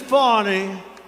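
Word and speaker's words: Fani: and fonnie fonnie you know fonnie spelled f a n i my name is fonnie f a n i i don't figure it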